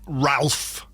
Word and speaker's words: Ralph: Star Wars movies and is it Rafe fines it's his Rafe fines being his name is co name is Ralph yeah it's Ralph you don't get to pronounce it something different just because you don't like the name Ralph is he spelled does